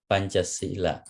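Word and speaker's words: Pañcasīla: Pa, okay, pa, and this nya and cha, you see, pancha sila, you see, S and E macron is long vowel, pancha sila.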